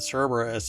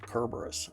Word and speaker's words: Cerberus: thought that it like I used to pronounce it Cerberus and then somebody pushed up their glasses and said Kerberos um and so now I